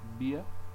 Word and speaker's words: bien: Bien, you drop the N.